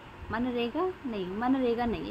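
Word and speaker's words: MGNREGA: मनरेगा नहीं मनरेगा नहीं है। ये एमजी एन ये समथिंग तो कुछ अलग है। मनरेगा ऐसे प्रोनाउंस हो गया।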